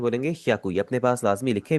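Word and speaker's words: 百: पहले आपकी एच वाई ए की आवाज है या और उसके आगे कु है तो ये बन जाएगा आपका हियाकू याकू एंड में जो उ की आवाज है ना वो मैं कहूंगा थोड़ी सी कम आपने करनी है आपने इसे हकू नहीं पढ़ना थोड़ा सा आप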